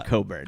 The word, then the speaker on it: Cockburn: He's like, "Who's Bruce Cockburn? Is that his real name?" It's not his real name. 'Cause Yeah. it's pronounced Coburn. Yeah, it's Coburn.